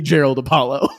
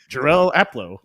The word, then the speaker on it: Jarrell Aplo: It can't be. And then I walk over to Jarrell and I look at him. I said, hey man, how do you say your name? And he's like, what do you mean? Jarrell Aplo. I'm like, okay. It's just so exactly how it sounds and looks.